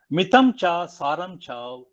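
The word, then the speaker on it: मितं च सारं च: did really help me to say how to pronounce it. It reads like this: Mitam cha saram cha kavochi vadmita.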